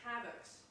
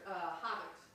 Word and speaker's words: Havex: So this is concerning Havex, or Havex, however you want to pronounce it.